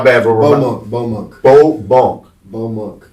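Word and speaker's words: Baux Monk: Bow Monk. How do you spell that?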